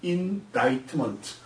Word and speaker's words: indictment: indictment가 아니고 indictment. C가 한국 문법식으로 얘기가 된다면 묵음이라 발음하지 않습니다. indictment.